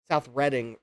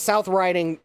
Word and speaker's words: South Riding: Is it South Riding pronounced like riding a horse or is it actually reading?" My dad thought it was actually reading South Reading, Virginia.